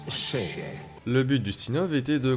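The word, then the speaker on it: še: Le mot orge en sumérien se prononce chez.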